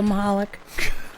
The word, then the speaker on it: Michalec: hi lovely Sharon how are you doing Moloch why are you pronounced it right I always pronounce it right